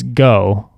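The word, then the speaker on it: Geaux: e a u x actually it's not grow it's go it's just spelled differently Jo no um but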